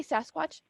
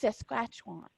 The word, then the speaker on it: Saskatchewan: And if I mispronounce this, you guys got, because I'm gonna say Sasquatch, but it's not that. It's Saskatchewan. Okay. Saskatchewan? Yes. Thank you. Thank you. Saskatchewan.